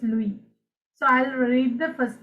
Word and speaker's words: Louis: if they're not uh pronounce it luis okay it's louis so i'll read the